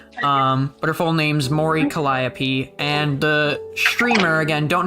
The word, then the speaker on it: Mori Calliope: at another V tuber so this is um Mori Calliope is how you pronounce it is the character that uh this